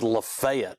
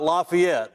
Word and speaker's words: Lafayette: And the first thing I want to do is get the pronunciation right, because it's Lafayette. That's right? it. Yeah. It's not Lafayette.